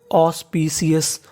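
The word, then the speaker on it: auspicious: यानी एक सफल रा अब अगला कोड है हमारा एयू एयू को पढ़ते हैं ऑ क्या पढ़ते हैं ऑ तो फिर सेंटेंस देखते हैं ए यू ओ एस ऑस पी सी ओ यू एस को क्या पढ़ते हैं अस तो पूरी मीनिंग बन गई ऑस्पी सियस ऑस्पी सियस ऑस्पी शियस का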